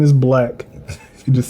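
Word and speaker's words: 6lack: No, it's Black. Those are the niggas Yeah, that and say then- to Django. Facts. But I started calling him 6 Lack after that.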